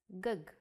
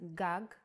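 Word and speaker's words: גג: written you might want to read it as gug there is no vowel sound in Hebrew the vowels are often not written you would know that this word is pronounced gag because it has been taught to you before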